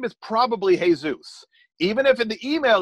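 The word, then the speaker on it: Jesús: his name is probably hey Zeus even if in the email that says Jesus play the averages and greet him as hey Zeus if his name is pronounced Jesus he'll tell you you can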